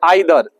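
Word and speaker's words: either: एक वर्ड होता है बाबू, एक वर्ड होता है आइदर। एक वर्ड क्या होता है? आइदर। और एक वर्ड होता है नाइदर। आइदर और नाइदर। इसको ईदर और नीदर भी पढ़ा जाता है।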